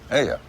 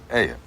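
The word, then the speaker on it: ayuh: Aya. Yeah. Yeah. How do you spell it? A-Y-U-H. Aya.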